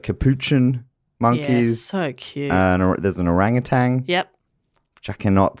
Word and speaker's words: orangutan: all okay great um orangutan that sounds silly yeah rang attained but you don't go hard G you just kind of soften the end you know yes sir